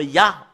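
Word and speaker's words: יה: écriture que nous voyons le terme ya en anglais c'est ya voilà comment l'écrit Yod he et le fait de de lire le Yod et le he c'est ya en langue ébreux voilà la raison pour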